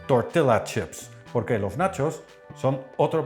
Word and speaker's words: tortilla chips: Al lado del plato ponemos un bol con más nachos que se llaman en realidad tortilla chips, correctamente pronunciado tortilla chips, porque los nachos son